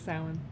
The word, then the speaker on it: Samhain: to summon the demon Samhain. I'm probably pronouncing that wrong. Samhain. It's true. I know, it looks weird, but it's Samhain.